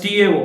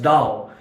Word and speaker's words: Tao: It is pronounced as Tao, although the literal spelling is Tao. They pronounce it as Tao.